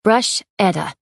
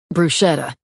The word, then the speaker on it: bruschetta: what oh right I'm making brush Etta bruschetta soya corrected Annika mouth the correct pronunciation as Riley grabbed dishes